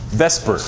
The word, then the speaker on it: VSEPR: looks like in real space is called VSEPR Vesper probably spelled with a why though yeah so the V